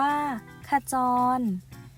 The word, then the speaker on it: ขจร: นี้ หน่อย นะ คะ ถ้า จร อ่าน ว่า ขะ จอน เป็น คำ กริยา แสดง